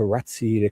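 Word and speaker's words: Rozzi: guarantee it's like a ratsi, you know, the Italian proper pronunciation would be rats or you know, but he pronounces it rosy like a rose even though it's spelled r o zzi.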